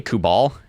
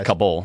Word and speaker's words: Kabul: Yeah, did you say Kubal? Yeah. It's Kabul. Yeah, I said it wrong.